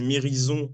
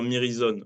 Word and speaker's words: Mirizøn: je te disais que les gens disent mirizon en France mais nous on préfère dire mirizon voilà comme ça donc on